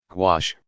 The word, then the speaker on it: gouache: what is quash you quash which rhymes with squash is a type of